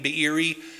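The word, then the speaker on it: Beeri: his father was named bieri you can put a little apostrophe or hiccup in the middle of his name be biri and if some ancient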